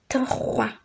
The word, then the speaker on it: trois: Trois. Trois. Wa. O and I brings about the pronunciation wa.